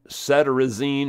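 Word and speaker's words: cetirizine: or something so uh that cedine or cedine however you pronounce it it c e t r i z i n e something like that cine so this is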